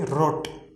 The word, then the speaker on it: rot: to say rot right but in german it will be rot rot it will be from the throat so it means trade